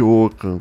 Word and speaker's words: Ockham: Se escreve O-C-K-H-A-M.